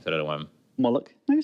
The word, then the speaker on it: Moloch: Moloch. No, you say it right. Is it Moloch? Moloch.